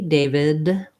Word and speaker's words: David: holding that vowel longer so even if i'm not saying a clear d david with a released sound david david i'm holding that longer and your ear your brain will hear it as a d so what might be